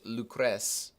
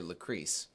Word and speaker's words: Lucrece: My wife's name is Lucrece, is how you properly pronounce her name, except everybody calls her Lucrece.